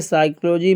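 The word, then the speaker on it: psychology: शब्द नहीं है देखिए साइकोलॉजी में पी साइलेंट है पी बोला ही नहीं जाता डाउट में बी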